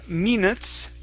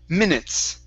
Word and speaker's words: minutes: So here, instead of saying minutes, it's minutes.